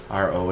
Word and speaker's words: gyro: A euro is money, but a gyro, I think it is, or I don't know how it's pronounced. It's Gyro.